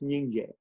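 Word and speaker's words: སྙིང་རྗེ: Oh, as one word is Nyingje. Nyingje. Nyingje, 2 syllables. And Nying means heart.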